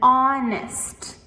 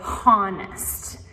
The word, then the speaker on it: honest: So, again, with honest, it begins with the o sound, not the h. We don't say honest.